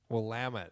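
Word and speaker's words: Willamette: Like what's the name of the river that cuts through Portland? The Wamit. Wamut. That's right.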